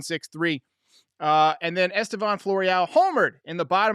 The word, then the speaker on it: Estevan: no special call for estevan floreal even though estevan rhymes with gone great smile on that